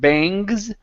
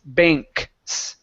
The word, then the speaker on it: banks: Okay, so right here, give me a good K sound here. Instead of bangs, it's banks.